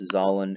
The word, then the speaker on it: Zahlen: Okay, but it's pronounced Zahlen, and that is the German word for integers.